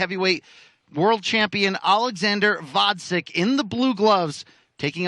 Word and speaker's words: Gvozdyk: heavyweight world champion Alexander Gvozdyk in the blue gloves, taking on Brazil's Gvozdyk Rodrigues. Is it Gvozdyk?